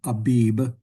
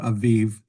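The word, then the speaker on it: אביב: And again, in English, that usually gets brought over as Abib, Abib, but it's pronounced in Hebrew Aviv.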